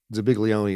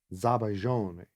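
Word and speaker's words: zabaglione: to find out that actually like Zabiglione is kind of a goober way to pronounce it.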